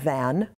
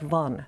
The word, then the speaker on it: Van: we would pronounce that van would say oh that was van armelia sure well it's more like the number one with the v in front of it so they're on lake von they lived in the